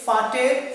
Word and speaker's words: Vater: Next, Vater, that means father. So we pronounced V as F in German language, that's why we say Vater for father.